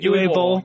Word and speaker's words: Uwe Boll: Well, in further movie news, Uwe Boll, did I pronounce that right? Uwe Boll.